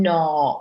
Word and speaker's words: gnaw: III know you can gnaw on something so NAT and no the G is silent let's go to the